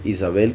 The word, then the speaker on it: Isabel: Eso indica que es otra, Curiosamente a Jezabel, su nombre, Isabel, que es la correcta pronunciación, lo traducen entre otras cosas como la Virgen del Señor.